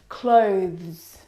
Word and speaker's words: clothes: like me okay this one is especially difficult clothes clothes clothes now the reason why it especially